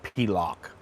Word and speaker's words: Pilok: Pilock. Sorry, I always say it wrong, but it's Pilock. That's what it's known for.